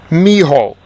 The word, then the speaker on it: Milhaud: I wanted to ask you about this mentor, Darius Milhaud, from Mills College. Milhaud, Milhaud, is the way it's pronounced. Not Milhaud. Miho. M-I-O, as close as you can get.